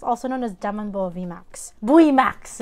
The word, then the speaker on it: VMAX: Buimax. Buimax. So in Korean, there's no V. They just pronounce it as Bui, like B-U-I.